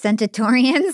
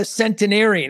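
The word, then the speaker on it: centenarian: Centatorans. 100 year olds that you met. I like the idea of a centatoran. A a centinarian.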